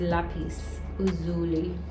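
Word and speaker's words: lapis lazuli: and this one is lapis Uli that's how it pronounced lapis any so yeah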